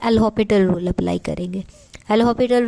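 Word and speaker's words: L'Hôpital: चलें, again applying L हॉपिटल rule. लिखने में हॉस्पिटल आएगा बट इसकी प्रोनाउंसिएशन होती है हमारी हॉपिटल।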